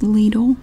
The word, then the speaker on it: Lidl: we have the ladle circular and it is pronounced ladle here I made a whole video about it